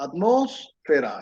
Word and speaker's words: atmósfera: Atmósfera, atmósfera. Es una palabra que es drújula, lleva acento en la tercera sílaba, que es la O, atmósfera, pero no sé cómo ponerle el acento, entonces lo vamos a dejar así.